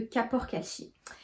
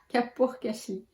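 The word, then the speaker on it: Kapoor Kachli: Donc moi mes favorites ça reste la poudre d'amla, de Bringaraj et de Kapur-Kashi. Donc vraiment Kapur-Kashli. Ouais, c'est ça, Kapur-Kashli.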